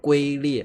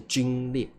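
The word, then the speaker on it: 皲裂: 好，你不要念成龟裂哦，表示你的中文水平很差。念龟裂的话，要念皲裂啊。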